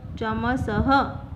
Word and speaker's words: चमसः: Here 2 dots is called visarg and it pronounced as h. Chamasah means spoon.